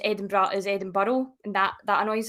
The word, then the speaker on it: Edinburgh: Mostly just every now and again, I'd have little wind up videos of, like, Americans pronouncing Edinburgh that way instead of Edinburgh, or Glasgow instead of Glasgow.